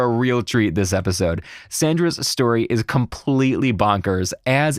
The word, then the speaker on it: Sandra: Pronounced Sandra, right? Just like it sounds, just like it looks? Yep, Sandra.